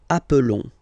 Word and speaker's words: appelons: Okay, nous appelons, and then little link would be perfect. So let's pronounce the whole thing again. Nous appelons. Nous appelons. Okay, final s doesn't exist.